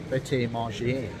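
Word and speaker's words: Prêt A Manger: and whilst you're waiting you can have your meal at practice manga or if you want to say it properly by team RGA because it's French welcome to the United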